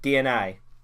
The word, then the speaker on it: DeNA: is regarding nintendo and dina or dna for some reason they put e in it because they're stupid but it's pronounced dna yeah basically nintendo are